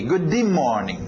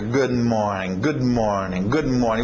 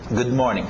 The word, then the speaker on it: Good morning: O que você vai ter que fazer no inglês é engolir esse D. Ou simplesmente, para não entrar nessa de, ok, todas as vezes que eu tiver consoantes eu vou engolir, não sei o quê. Não, faz o que é natural. Treina isso. Relaxa. Good morning. Você vai ver esse D ficar meio engolido, mais suave, ok?